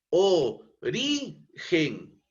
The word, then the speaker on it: origen: ejemplo la palabra origen la palabra origen es una palabra grave No porque si dividimos nosotros entre sus sílabas componentes origen la máxima entonación en esta entonación de voz Es eh la sílaba ri No es cierto Ori Gen pero como termina en